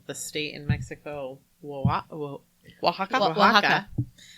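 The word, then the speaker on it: Oaxaca: learned how to spell the state in Mexico wa Waka o a x a CA yeah something like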